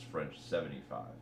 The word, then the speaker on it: French 75: Also, when I was reading the track list for Heartbreak, I saw French 7/5, and I read it in my head as French 75.